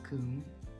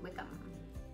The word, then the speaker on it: Combe: O sound and then the combs you just say come and a lot of